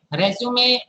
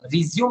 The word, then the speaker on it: resume: Resume is a noun. Resume is a verb.